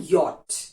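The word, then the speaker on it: yacht: और होता है हाउ फॉर एग्जांपल योट अब योट को आप अगर नहीं अब तक आपने कभी पढ़ा होगा तो कैसे उसको बोलेंगे वाई ओटी Y eighty but actually it's वाई ए टी सी एच कहीं पे भी सी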